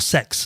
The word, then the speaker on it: CeX: gaming market would be good old CEX or Sex, as they constantly try to get us to pronounce it, which nobody does.